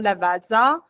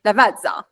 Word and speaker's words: Lavazza: People were not able to say Lavazza in the Italian way.